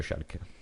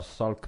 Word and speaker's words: Schalke: Bref, premièrement Vivier, on prononce pas Schalke mais Schalke, c'est très important en Allemagne.